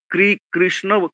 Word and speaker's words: কৃষ্ণ: তবুও আমার যেটা মনে হয় রি হচ্ছে একটা মানে রফলা আর হস্যকার মেশানো একটা, হ্যাঁ? সেরকম একটা উচ্চারণ হবে। যেমন দেখুন কৃষ্ণ, কৃষ্ণ বলি মূর্ধন্য কৃষ্ণ। তো এইটা কৃষ্ণ এরকম উচ্চারণ। কয় রফলা হ্রস্ব গোছের একটা উচ্চারণ হবে আরকি।